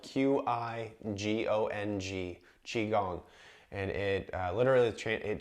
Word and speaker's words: Qigong: borrow some breathing sounds and techniques from the Qigong classes that I teach as well if you